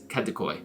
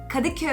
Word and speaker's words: Kadıköy: Đầu tiên, ở đây, phía châu Á của Istanbul và đó là Kadıköy (phát âm sai). Kadıköy (sửa Steve) Vâng, gần như vậy (cười).